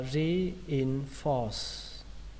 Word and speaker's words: reinforce: Từ tiếp theo các bạn đọc là reinforce. Reinforce, kết thúc bằng âm sờ. Ở đây trọng âm của nó là âm đầu tiên, re các bạn nhé.